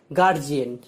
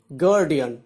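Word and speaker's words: guardian: আমরা জানি গার্জিয়ান, actually বানানটাই কি, GUARDIN, উচ্চারণটা হবে গার্ডিয়ান। একই রকম বলি এক্সামিনেশন, উচ্চারণটা কি হবে, এক্সামিনেশন।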